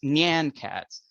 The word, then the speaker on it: Nyan Cat: so famously made please give me the correct pronunciation on how I should say it yeah sure uh so it's Nyan Cats uh I know I know a lot of